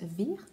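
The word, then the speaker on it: Weyer: Et donc on va suivre ce personnage de Jean Weir, Jean Weir plutôt, étant donné qu'on est en Allemagne, donc à mon avis ça se prononce plus Weir.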